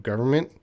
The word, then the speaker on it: government: So to the word government, some areas, some regions, English speakers pronounce the N a little bit reduced, and some areas they do not pronounce the N. So there is no strict rule about the pronunciation of government. Government. Government. Government. But if you say government without the N, I don't think anyone's going to care.